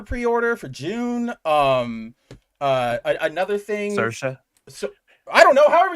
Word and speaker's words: Saoirse: Like, trust me, I have heard the entire spectrum of how you could probably mispronounce that name. Again, and I was like, guys, it's Saoirse.